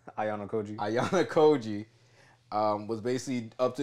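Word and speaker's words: Ayanokōji: I'm gonna call this nigga Ayanokoji, but I'm skipping a syllable. Ayanokoji.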